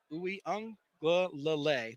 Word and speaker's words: Uiagalelei: We also had an interview with Clemson quarterback who I'm working on pronouncing his name correctly. It's DJ Uiagalelei.